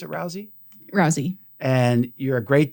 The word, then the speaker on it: Rousey: Does she pronounce it Rousey?